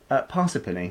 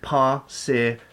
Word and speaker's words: Parsippany: wonderful time, and they taught us how to pronounce the name of the place. Yes, which you still can't say now, can you? Parsippany.